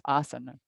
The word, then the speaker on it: asana: Like asana doesn't have a long A at the end. It's asana.